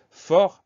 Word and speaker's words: fort: On fait attention à ce t muet, mais on s'en souvient assez bien en utilisant le féminin fort, F-O-R-T.